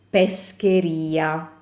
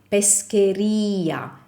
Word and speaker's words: pescheria: The stress is on the I. Pescheria, macelleria. See, they all have the stress placement in the stress placed in the same spot, which is the I.